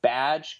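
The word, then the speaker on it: B'dg: Badge is like the little squirrel Green Lantern thing. It's spelled B''DG.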